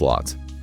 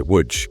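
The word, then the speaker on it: Łódź: Yeah, it rhymes with wood and then just add a soft g sound. W. Okay, woodch.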